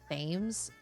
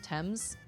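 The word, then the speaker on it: Thames: like the fact that I pronounced the river tames instead of TS it's one of those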